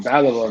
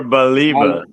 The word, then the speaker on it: Baleba: And I just want Baleba, man. Baleba, that guy is a beast, man. He's like the Is it type of profile. Baleba or Baliba?